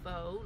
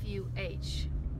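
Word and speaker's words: phở: eating it on the menu it says to pronounce fo like f fu is the proper way and when the girls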